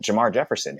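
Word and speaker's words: Jermar Jefferson: And we also can't count out Jamar Jefferson, who we drafted this year, or who the Lions drafted, because you get all annoyed when I say it.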